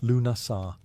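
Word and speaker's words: Lughnasadh: Lugnasad, pronounced Lunasar, the Celtic festival honoring Lug, the god of light, craftsmanship, and war.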